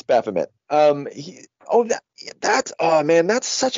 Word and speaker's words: Baphomet: I don't know. Baphomet. Baphomet. Yeah, it's Baphomet.